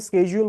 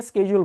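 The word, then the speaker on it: schedule: ওয়ার্ডবি সজর সজল হচ্ছে American Xcent American এটাকে স্কেজউল বলে ব্রিটিশরা বলে এটাকে সিজিউল আর বাংলাদেশীরা বলি আমরা হচ্ছেশিডিউলশিডিউল নামে কোন শব্দ নাই এটা ভুল ঠিক আছে এটা একচুয়ালি আমরাশিডিউল বলে থাকি মানে মোটামুটি বাট সবাই বুঝে আসলে যে আপনি ওটাকে স্কেজ বুঝাচ্ছেন বাট আপনি যেহেতু স্পোকেন ইংলিশ শিখতে আসছেন তো আমরা কারেক্টটাই শিখবো ঠিক আছে আপনি আজকে থেকে স্কেজল বলবেন স্কেজ ঠিক আছে স্কেজ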